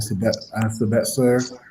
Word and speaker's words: Sabitzer: As you guys mentioned, they just lost Hansi Flick to Bayern Munich, and Sabitzer, that's how you pronounce his name, to Bayern Munich as well too, right?